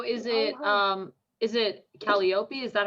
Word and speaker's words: Calliope: to say it yeah calliope is the the standard pronunciation for that name but it could also